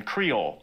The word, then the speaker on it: Creole: That pidgin later developed into Australian Creole, which is still spoken by around 20,000 people today in the Northern Territory.